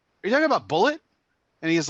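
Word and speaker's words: Bulleit: And he's like, no, I'm pretty sure it's Bulliet because it's spelled. He even spelled it for. I was like, Yeah, no, he that's spells Bullet. like Yeah, it's that. Bullet. That's It's Bullet it's County, bullet. Kentucky is where it's from. And he's like, Yeah. oh, it's pronounced Bullet.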